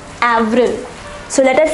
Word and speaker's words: avril: pronounced as mars once more mars april is pronounced as avril avril so let us say these four months once